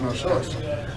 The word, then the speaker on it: Knossos: Now that K is silent in Greek, they call it Knossos.